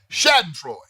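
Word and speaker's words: Schadenfreude: German word I'm g spell it for you it's spelled s c h a d e n f r e u d Shad androy tell you what it means saden FL is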